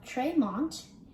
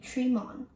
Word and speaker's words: Tremont: side of boston common instead of tremont you should say treemon how do you pronounce